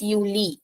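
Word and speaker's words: Juli: dare you uni so starting from J pronunciation y uni then dare Uli so uh like in the beginning people say Uli yeah it's Uli because I is e pronunciation so Uli then there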